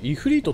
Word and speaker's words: 炎の魔神: あ、これイフリートとピクシーって読むんだ。